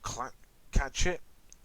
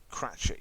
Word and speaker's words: Cratchit: named bob was it bob clap catch it or clutch it he's voiced by rhys iraq's i think is that how you pronounce his name oh i fans yeah bob cratchit yeah and after declining